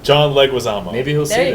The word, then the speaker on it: John Leguizamo: John Leguizamo. John Leguizamo.